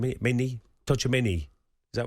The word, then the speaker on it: Tchouaméni: Tchouaméni.